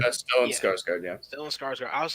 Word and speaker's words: Skarsgård: Skarsgård? Is that how you say his name? Stone scarred. Stellan Yeah. Skarsgård, yeah. Stellan Skarsgård.